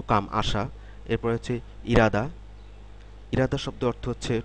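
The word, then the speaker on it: 일하다: কাম আসা এরপরে হচ্ছে ইরাদা ইরাদা শব্দের অর্থ হচ্ছে টু ওয়ার্ক কাজ করা এখানে খেয়াল করুন ইলহাদা হওয়ার কথা ছিল উচ্চারণটা কিন্তু এখানে এরকম উচ্চারণ হবে ইরাদা ইরাদা শব্দের অর্থ হচ্ছে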